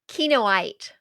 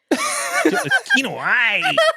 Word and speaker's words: Kinoite: Prove that what the correct pronunciation is. Kinoite. Jill. Kinoite. You gotta. Okay. I realize I haven't said it in a very long time. Kinoite.